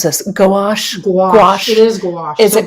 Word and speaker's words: gouache: this go I don't even know how to pronounce this gouache gouache it is gouache is it gouache is basically